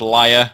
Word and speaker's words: Leia: Apparently that's pronounced liar.